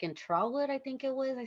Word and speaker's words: Trotwood: excited, but when I saw it, the car was actually flooded in a Oh, middle school, like in Trotwood, I think it was.